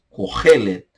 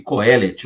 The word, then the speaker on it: Kohelet: hebraico é chamado de Kohelet. Kohelet. Kohelet. Kohelet. Tá? Há quem pronuncie Kohelet ou Kohelet. Fale como você quiser.